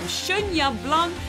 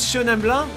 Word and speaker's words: Chenin Blanc: We are trying all sorts of different wine varietals from Chenin Blanc, Chardonnay, Gewürztraminer, Viognier and Syrah. And I apologize for my awful pronunciation.